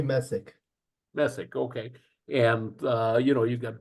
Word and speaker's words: Message: Is it Message or Messick? She told me Messick.